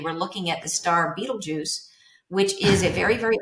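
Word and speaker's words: Betelgeuse: looking at the star Beetlejuice which is a very very old star I know it sounds like Michael Keaton Beetlejuice but it's spelled totally differently I know me too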